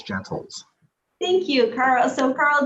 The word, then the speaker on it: Gentles: Sure, it's a Gentles. Gentle with an S, Gentles.